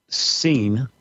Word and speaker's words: Sin: Okay, so the moon god's name was Sin, S-I-N is how we usually pronounce it.